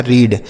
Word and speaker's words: read: अब इ ए के साथ इ के साथ ए रहेगा तो बड़ी ई की मात्रा और डी से ड लिखा है रीड।